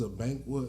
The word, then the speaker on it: Abankwa: you for a fact, as a person whose name is a Bankwa and it is pronounced Abankwa. It's like it's just it's phonetic.